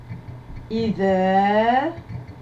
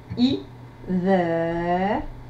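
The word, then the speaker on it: إذا: Comment dit-on quand en arabe? Idha, je répète, idha. Correction. Combien de syllabes? 2. I, dha. I, c'est la lettre alif avec la hamza et la kasra pour support. Dha, c'est la lettre dhal avec la fatha.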